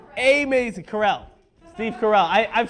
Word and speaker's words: Carell: TV show out of this starring starring Steve Carroll yes yes it is going to be a maze of corral Steve Carell I've said his name wrong four times already